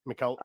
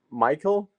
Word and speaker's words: Mikael: goal scorer that is Mikel Ura. Yeah, close. Michael is actually the right way to say my name in English.